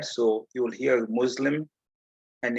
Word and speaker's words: Muslim: it is should be pronounced as s because it's coming from another language so it's islam and